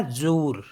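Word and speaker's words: jour: means होता है वी जे ओ यू आर तो ये हो गया जूर क्योंकि लास्ट में जो आर होता है वो साइलेंट नहीं होता है तो जूर मीस होता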